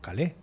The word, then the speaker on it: Calais: a llegar por calais por calé que se llama que se pronuncia en francés Por qué Pues porque